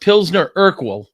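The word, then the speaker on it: Pilsner Urquell: Okay, it's it's pronounced Pzner Urkal and it is from Czechoslovakia and before the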